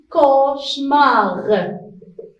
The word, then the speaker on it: cauchemar: Et aussi, il y a C à la fin du mot. C'est une lettre muette aussi. On ne la prononce pas. On écrit, mais on ne la prononce pas. On dit cauchemar.